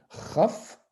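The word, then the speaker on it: כ: dit une lettre réceptacle la lettre caf si j'enlève le point c'est raf donc dans l'agout prononcé avec la gorge raf voilà donc c'est la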